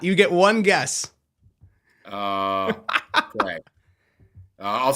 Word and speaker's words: craic: Crack. It's spelled CRAIC, but it is pronounced crack.